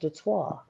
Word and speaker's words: Detroit: It's supposed to be pronounced Detroit. That's right. Damn That's French.